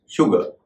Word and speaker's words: sugar: उसका सही उच्चारण है शुगर, न कि सुगर।